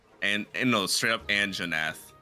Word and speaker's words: Anjanath: The chief botist said, "Oh my Ahanoth is or Anhanothath is uh what nasty monster you anhenath." An straight up Anjanath. The J is pronounced.